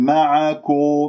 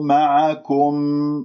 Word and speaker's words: معكم: هناك من يقول معاكو، معكم، دائما كلمة كم يعني